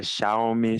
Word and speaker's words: Xiaomi: lá do do celular como que se pronuncia sh xi É xiaomi xiaomi muita gente gosta de